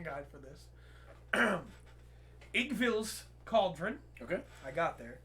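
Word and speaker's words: Iggwilv: I read the pronunciation guide for this. Igvil's Cauldron.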